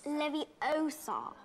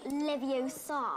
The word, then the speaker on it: Leviosa: You're saying it wrong. It's Leviosa, not Leviosa. Leviosa.